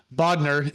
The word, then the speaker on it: Bodnar: transactions amazing we're speaking with uh Matt uh bod is how you pronounce it but how you spell it is